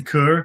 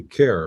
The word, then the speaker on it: Kerr: Kurr con Kurd. Yeah, I guess it's actually care we pronounce it, but that's different. Ah, okay. As in who cares.